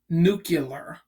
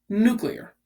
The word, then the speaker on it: nuclear: and we're gonna talk about nuclear it's not pronounced nucular it is pronounced nuclear so this is this is cool this is